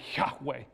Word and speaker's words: Yahweh: y h w h mankind has come along and added the vowels and tried to say it as we might say it it would actually be like yahweh if we were saying it correctly as a jew but the name of